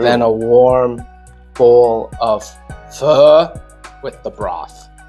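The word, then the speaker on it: phở: a warm bowl of fur with the broth now this is spelled pH H this word that was pronouncing F obviously we already have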